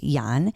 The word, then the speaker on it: Jan: If you say Jan, you can, but it's pronounced Jan.